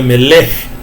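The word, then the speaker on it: מלך: E ele é falado mais curto, então é Melech, Melech é rei, e Malor é reinar, tá?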